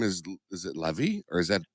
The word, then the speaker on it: Levees: Say Yeah, a lot of So guys Levy- think it's Levicious or some other random thing. but Bootylicious. Yeah, exactly. Why'd you have to But go it's definitely Levy.